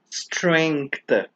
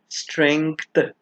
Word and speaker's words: strength: word is pronounced as strength so the letter G is not silent it is very much pronounced imagine removing th from